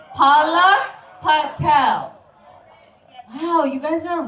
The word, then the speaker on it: Palak Patel: It's pronounced Palak Patel. Okay, on three, let's all do it together. 1, 2, 3. Palak Patel.